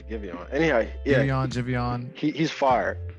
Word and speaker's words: Giveon: But yeah, it has Daniel Caesar and it has Daniel Caesar and Jivion. Oh, okay. Is his name Jivion for real? Yeah, I think that's how you pronounce it. I thought it was Giveon.